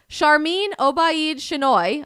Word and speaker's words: Sharmeen Obaid-Chinoy: So, in case anyone was confused by that, yes, Sharmeen Obaid-Chinoy, I'm pretty sure is how you pronounce her name, the new director of